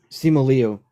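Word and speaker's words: Simu Liu: Simlu Sim Leo.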